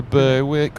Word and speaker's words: Berwick: the same it's Justified is this the way to Berwick on Tweed um well they want to call it Beric don't they but they don't know how it's spelled um okay so that's